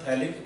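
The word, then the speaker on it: phthalic: ये थैलिक acid, pH silent होता है।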